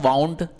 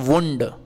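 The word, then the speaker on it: wound: मतलब होता है घाव जब ये नाउन फॉर्म में होता है तो इसका उच्चारण यहां पर हम क्या कर रहे थे वाउंड लेकिन इसका उच्चारण क्या करते हैं साथियों इसका उच्चारण करते हैं वंड इसका उच्चारण क्या करते हैं इसका उच्चारण वंड करते हैं वंड का मतलब घ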